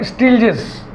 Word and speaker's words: Stieltjes: इसमें टी टा साइलेंट रहेगा। स्टील्जेस, स्पेलिंग थोड़ा सा संभाल के लिखिएगा। स्टील तक ठीक है, STIEL। फिर जेस JES ना लिख के बिचवा में टी है भैया, बहुत संभाल के स्पेलिंग लिखिएगा।